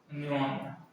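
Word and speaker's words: pneumonia: निमोनिया, पी एन ई यू एम ओ, इसके बोलते हैं निमोनिया, इसमें पी क्या रहता है, साइलेंट।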